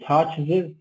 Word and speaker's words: touches: He touches her hand. Okay, you pronounce this one with "ez." He touches, not touches. No, he touches.